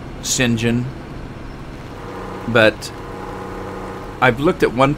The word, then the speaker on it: St John: where you came from my last name is St John or as they pronounce at singen but I've looked at